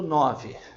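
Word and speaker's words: nine: Lembra que aqui no 5 eu falei que é 5, que a letra E no final de uma palavra costuma não ter som? Pois é, 9, portanto não tem som este E.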